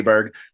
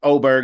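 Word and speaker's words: Åberg: It's you don't have to say Aberg, but it is pronounced Oberg if you're American.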